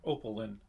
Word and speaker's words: Opaline: It sounds like Opelin is how they're pronouncing it in song.